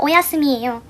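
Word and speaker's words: おやすみ: 이거는 일본에서 잘자가 오야스미예요. 오야스미가 스를 귀엽게 추로 바꿔 발음하는 건데 그래서 오야미 하면은 사실 잘장보다 뭔가 더 귀여운 느낌.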